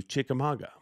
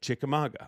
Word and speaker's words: Chickamauga: But years ago, when I first started emceeing for Bass, the first time we ever went to Chickamauga, Lake Chickamauga, which I can say very, very well.